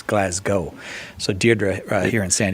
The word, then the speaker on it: Glasgow: You're not supposed to say Glasgow. I said Glasgow, and it's Glasgow.